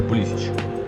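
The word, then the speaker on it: Pulisic: качати як Боженька полісик я буду назвати полісик знаю що він читається полісч Калабрія Кеп Кеп на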